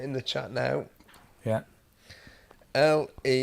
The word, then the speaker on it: Lehrer: Lehrer, like the German word for teacher.